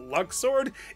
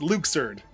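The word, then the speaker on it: Luxord: getting his name wrong it's not luck sword it's Luke surd well why can't you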